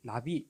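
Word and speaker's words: נביא: 선지자라는 것은 나비라고 얘기하는데 날아간 나비가 아니고요. 히브리어 발음입니다. 나비라고 말하는데 이거는 하나님의 뜻을 선포하는 자. 물론 전제 조건이 있습니다. 하나님께로부터 받은 계시의 말씀을 선포하는 자, 대언하는 자 하는 뜻이 있습니다. 그러니까 이 나비 선지자에게는 하나님의 뜻을 선포한다,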